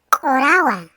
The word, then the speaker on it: kurawa: Se escribe kurawa, se pronuncia korawa.